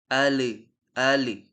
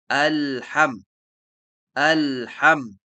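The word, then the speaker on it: الحمد: sering terjadi kesalahan ialah orang-orang sering memantulkan lam ketika membaca alhamdu mereka membacanya seperti ini Al Al Itu adalah sebuah kesalahan yang benar bagaimana alham alham nah kemudian selanjutnya yang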